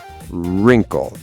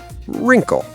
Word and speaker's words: wrinkle: Wrinkle. Wr at the start. W is silent. Wrinkle.